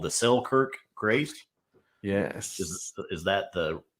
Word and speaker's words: Selkirk Grace: accompanied at first by this what's called the selkirk grace yes is that the correct pronunciation absolutely uh it's short but it says